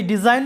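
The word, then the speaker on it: design: এবং পরে যদি ভাওয়েল থাকে তখন এস এর উচ্চারণটা জ এর মতো হয়। তো আমাদের এই ডিজাইন শব্দে এস এর আগে আছে ই এবং পরে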